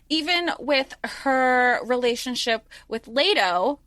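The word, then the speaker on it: Leto: with her relationship with lato Leo yeah lato okay I said it right the first time even with her relationship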